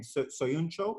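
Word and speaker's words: Söyüncü: Soyuncu, is that how you say his name? Yes, yeah. Soyuncu.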